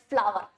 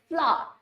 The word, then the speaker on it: flower: Ringoline പറ്റി പറഞ്ഞപ്പോഴത്തേക്കും we always have a tendency to say FLOWERS flower. It's a mother tongue influence, but the actual pronunciation is flower. We don't pronounce the word R, it's like flower.